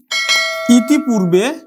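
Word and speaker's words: ইতঃপূর্বে: আমরা এই ইতিপূর্বে বানান লিখব ইতপূর্বে, আমরা উচ্চারণ করব কিন্তু ইতপূর্বে। আমরা জানি বিসর্গের পরের যেই ব্যঞ্জন বর্ণ থাকে সেটি কিন্তু দ্বিতীয় উচ্চারণ হয়, তাহলে ইতপূর্বে। ইতপূর্ব মানে হচ্ছে এর আগে।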